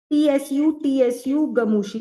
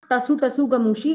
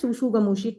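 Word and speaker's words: tsutsugamushi: Tsu tsu gamushi. It is not tasu tasu gamushi. It is pronounced as suzu gamushi. T is silent then I don't know why T is used.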